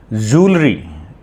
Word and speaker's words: jewelry: Jewelry. J-E-W-E-L-R-Y. Ornaments. So it is pronounced as jewelry, not jewelry.